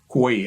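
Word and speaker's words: Hue: She remembered the lady, Quay. I call her Quay. Hugh, H-U-E. It's a different way of pronunciation in, English Vietnam.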